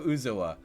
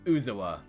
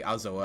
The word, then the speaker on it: Uzoa: bit better so yeah my name is uzoa uh that's how you pronounce it uzuwa or you can say azoa i guess if you